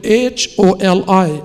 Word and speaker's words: Holi: and the other is called pagwa holy is spelled with h o l i and not with h o l y and